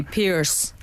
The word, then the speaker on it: Piers: lot of ex-athletes like Piers Morgan yeah you know some actually not an ex no can we say what the Americans say Pierce Pierce Morgan yeah I um I